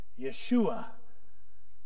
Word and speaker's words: Yeshua: Jesus it means Yahweh saves in Hebrew it's pronounced Yeshua the Old Testament equivalent was Joshua and the